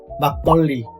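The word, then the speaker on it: 막걸리: Like a word makgeolli, a Korean liquor. When you say makgeolli, actual pronunciation is to be a double consonant, like makgeolli.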